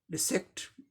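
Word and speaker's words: dissect: अब इसका उच्चारण देख ले, डी के लिए ड साउंड, आई के लिए ई sound, short and quick E sound. Yes यस के लिए सौ साउंड हो गया, दो लेटर के लिए एक साउंड सौ।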